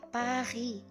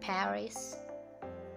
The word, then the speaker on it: Paris: pada kata ini nah ini membacanya Pahri bukan Paris Hair is now pahit karena es final tidak dibaca Oke kemudian kalau saya